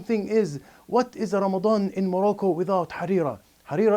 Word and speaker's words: Ramadan: in the month of Ramadan I'm going to pronounce it correctly Ramadan not Ramadan Ramadan and in Ramadan we'll